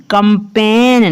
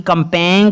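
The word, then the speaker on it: campaign: Next है CAMPAING कंपेन, ना कि कंपेंग नहीं इसको पढ़ना, कंपेन पढ़ना है।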